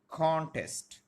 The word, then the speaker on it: contest: first syllable for example the word contest which I wrote the contest here the stress will be on the first syllable and not on the second the world contest